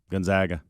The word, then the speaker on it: Gonzaga: okay baylor and gonzaga gonzaga i say it wrong always the first time gonzaga the zags zags